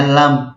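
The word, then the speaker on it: لام: Dan cara bacanya itu per hurufnya. Bukan misalkan kayak lam itu ya bacanya lam, bukan la, tapi lam, bukan alame, bukan gitu.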